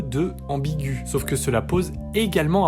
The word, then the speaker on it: ambigu: Parce que dans ambigu, on ne place pas le tréma pour signifier qu'on prononce le E. Le E est muet ici. Mais on pose le tréma pour prononcer le U, qui est placé en première position.